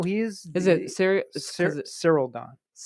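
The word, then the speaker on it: Ciryl Gane: Cyril Gane. But I feel like they pronounce the Y a little bit. It's all different. Well, it's he's French.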